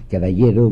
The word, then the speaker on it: Caballero: On fera une réforme agraire toute petite, et un nommé Caballero, qu'il faut prononcer Caballero, vous savez, qui était socialiste et qui va devenir socialiste d'extrême gauche, aura une phrase assez pittoresque, mais que je crois juste.